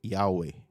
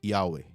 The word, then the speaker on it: Yahweh: O Senhor aqui é o tetragrama sagrado, Yahweh, traduzido como Jeová, Yahvé, mas a pronúncia, segundo os discípulos de Yeshua nazarenos, eles dizem que é Yahweh, o nome dele, Yahweh.